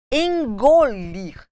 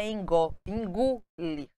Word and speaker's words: engolir: boteco boteco cobiçar cortiça engolir a maioria das pessoas fala engolir engolir não é tcir é toir zoar